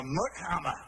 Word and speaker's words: MC Hammer: Oh, no, I'm the Scottish rap singer, Mick Hammer. It's spelled MC, but it's pronounced Mick.